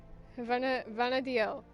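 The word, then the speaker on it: Vana'diel: Benadio. I was pronouncing it right.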